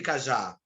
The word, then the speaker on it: cajá: Vocês gostam de cajá? Qual é o mais forte? A, né? O já, a sílaba já.